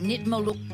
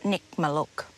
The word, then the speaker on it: Nitmiluk: right next door to the caravan park is the jaw-dropping Nitmaluk Gorge.